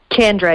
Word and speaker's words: Chandra: have pronounced it perfectly so it's chen not chan chandra yep yeah okay and